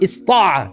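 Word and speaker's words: اسطاع: pronounce between the two, so you can say to istata'a, ista'a. You're allowed to say this, right? Istata'a, you can say ista'a.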